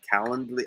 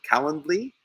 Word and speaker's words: Calendly: I even reach out to me and ask me for my Calendly. I have a Calendly. I can't even say it right. You know that link for the calendar, Calendly?